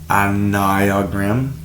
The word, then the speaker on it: Enneagram: The anog pronounced anog is a geometric figure that maps out the nine fundamental personality types of human nature and their complex inter relationships.